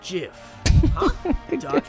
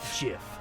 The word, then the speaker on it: GIF: it's not the truth it's pronounced jiff jiff like the peanut butter the creator said so